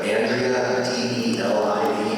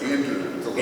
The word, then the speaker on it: Andrew: So I know I butchered the name, but I'm just going to try to Andrea, Delivin. It's Andrew.